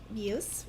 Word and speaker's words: Buse: All right, so this one was requested from Carrie Buse. Is that how you say her name, do you suppose? I say Bus? Yeah, Bus.